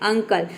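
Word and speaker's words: uncle: pronounce करेंगे तो देखिए जब किसी वर्ड के शुरू में अगर यू हो तो वहां पे यू को हम क्या प्रोनाउंस करेंगे अ प्रोनाउंस करेंगे जैसे कि अंकल तो अंकल में देख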